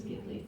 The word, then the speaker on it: Ghibli: But it was taken from Italian, and the correct Italian pronunciation is Ghibli.